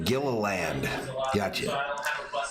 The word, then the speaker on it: Gilliland: Todd pronounces his last name Gilliland.